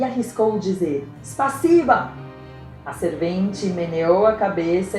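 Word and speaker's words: спасибо: Escreve-se S-P-A-S-I-B-O e pronuncia-se spasiba, spasiba.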